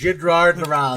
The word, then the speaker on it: Jidrard Razla: It's pronounced Jidrard Razla.